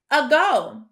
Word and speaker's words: ago: I hear the long O sound, O, which makes sense. But when we look at that first syllable, it is also open, and it should sound like that long A sound, A, but it actually sounds like a short U, So that is very